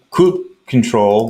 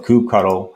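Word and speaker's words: kubectl: Cluster piece and uh Coupe control or cube cuddle however you want to pronounce it is the CLI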